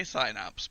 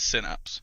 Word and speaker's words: Synapse: American English but because the bulk of our audience is in the US the official brand pronunciation is synapse but I just can't